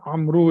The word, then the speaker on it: عمرو: So this Amr is pronounced as Amru if you are not stopping. Otherwise, if you stop, you don't say Amru, you say Amr.